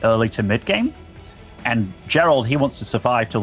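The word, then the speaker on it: Geralt: That is Gerald. But it's spelt different, you know, with a J. Right. Yeah, I don't think you really don't know where I'm going. So I know it's Gerald of Rivia.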